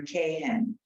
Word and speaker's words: Cahan: So I just want to say she pronounces it Kay-Han. So as if it started with K-A-Y. Okay, so everybody say Rebecca Bauer Cahan.